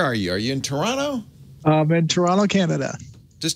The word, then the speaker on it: Toronto: Like Toronto. Or the T, sorry, the T is silent. Yeah, the T is silent. Toronto.